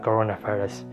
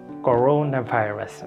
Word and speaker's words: coronavirus: Okay, corona. There is a stretch here, O, corona, and virus. It's a swatch sound here. Virus, not virus.